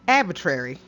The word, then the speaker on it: arbitrary: to say it correctly I don't know why I didn't notice the other r at the beginning right right next to the a oops that's why I like arbitrary that's probably a word